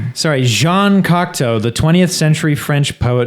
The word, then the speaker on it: Cocteau: Not to be uh not to be confused with the Cockatu twins, which is what I was calling them for about 10 years. Uh how do you pronounce him again? Cockto.